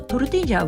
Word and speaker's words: tortilla: 個人的にはトルティージャのようにリャのリに少し濁点がついたような気持ちで発音するといいのかなと思っています。